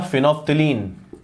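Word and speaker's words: phenolphthalein: इतना वीक है कि मैंने आपको इंडिकेटर्स में पढ़ाया था फिनोफ्थिलीन, मैं फिर कह रहा हूं स्पेलिंग पे मत जाना, थोड़ा जल्दी हूं।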